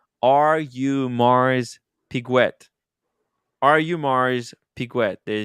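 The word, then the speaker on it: Audemars Piguet: EDC uh explains it to us that it's pronounced are you Mars piguet are you Mars piguet there you go very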